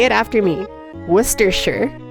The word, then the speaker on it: Worcestershire: hear people say it I hear Worcestershire it's Wooster sure Worcestershire okay I so what's the general consensus